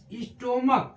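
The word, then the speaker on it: stomach: हो जा रहा है य स्टोम eighty M ए सी एच स्टमक इसको पढ़ते हैं एच यहां भी क्या हो रहा है साइलेंट हो जा रहा है सी आरओ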